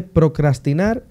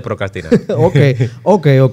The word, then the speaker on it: procrastinar: lo que pasa es con la r que está entre la c y la a tú no la dices cuando estás diciendo la palabra correcto pero si se escribe